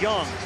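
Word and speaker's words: Jung: at third base Josh Young last name is spelled ju u n g but it's pronounced young and you got some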